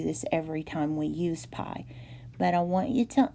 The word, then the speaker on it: pi: And pi is this symbol. You make a little swirly thing, and then the two lines at the bottom, and that is pronounced pi.